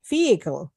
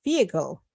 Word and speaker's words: vehicle: more formal but uh like yesterday everybody some silent letter like Figo yeah vehicle vehicle yeah the S is silent so you say